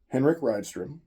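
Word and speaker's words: Henrik Rydström: I did say I was not going to mispronounce the new coach's name wrong or try and guess, but I can say the new coach's name officially, Henrik Ridystrom, Swedish.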